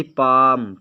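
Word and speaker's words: palm: की इंग्लिश हो जाएगी पाम पाम माने हथेली यहां पर ल साइलेंट रहता है एल और एम अगर साथ में आता है तो ल साइलेंट रहता है यह आपको ध्यान देना है फिस्ट यानी मुट्ठी मुट्ठी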